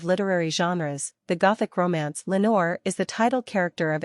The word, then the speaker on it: Lenore: our Raven replies Nevermore well it rhymes with Lenore so good choice in